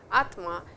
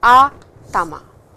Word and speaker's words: atama: head, that is called atama. I will just write it down for you. Atama. And please don't pronounce it as atma, it is atama.